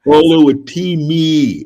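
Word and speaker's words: Oluwatimi: Olu Atimi was grading you down for pronouncing his name. He was grading you down, Al. Olu Atimi.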